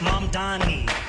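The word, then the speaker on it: Mamdani: The name is Mom Donnie. M-A-M-D-A-N-I. The name is Mom Donnie. M-A-M-D-A-N-I. You should learn how to say it.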